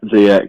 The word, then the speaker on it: Ziyech: Yeah, Ziyech, yeah.